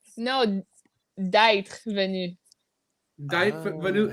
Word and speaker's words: d'être: D'être. No, d'être venu.